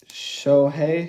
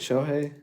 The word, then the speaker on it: Shohei: them by the hundreds shohei shohei that's how you say it show hey shohei atani or something